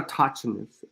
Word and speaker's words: autochthonous: It's not a autochthonous or a autochthona. It's none of that. Autochthona. Autochthon. Autochthon. So autochthonous. Autochthon. And then you add the O-U-S. Autochthonous. Autochthon. That's how it's pronounced.